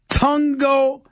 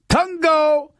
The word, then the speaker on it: Tagovailoa: Tua Tagovailoa. That is how you pronounce Tagovailoa's name. Tua Tagovailoa. That's how he pronounces his name. Tagovailoa.